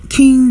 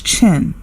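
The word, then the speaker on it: Qin: spoke briefly about the King Dynasty some people may correct me and say that it is pronounced as chin that word also exists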